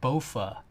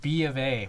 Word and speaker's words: BofA: I was reading something about Bank of America, and apparently it's abbreviated BOFA. It's supposed to be pronounced B of A, but all I could think was both of these nuts.